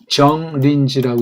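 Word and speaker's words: 정인지: 정린지라고 읽습니다.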